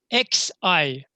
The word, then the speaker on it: Xi: XI. XI, if you want to pronounce that, it's hard, but I heard that from Greek actually pronunciation, they call that Xi, Xi, yeah?